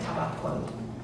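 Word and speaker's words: توکل: Her mindset is rooted in accountability, doing everything within her power, and then finding peace through, again in her words, in Persian we pronounce it tawakkul.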